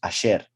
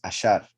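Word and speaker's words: אשר: Because that's the most common meaning of that word when pronounced Asher. We saw here is Ashar, Ashar, a verb, meaning he went straight.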